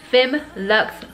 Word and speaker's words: Femme Luxe: looks in this video is from the brand Finn Lux finery I said it wrong in my last